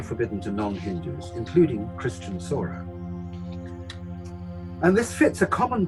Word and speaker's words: Sora: Now, outsiders often pronounce Sora Sawara or Sabara, and Sabari is now widely believed to have been Sora.